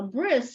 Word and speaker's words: bris: told you sometimes the the T in Yiddish is pronounced as an S so a bris is your it's the